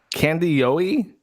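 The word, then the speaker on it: Kandiyohi: But how the fuck you pronounce the name of your county? Candyoi. Candy Ohio.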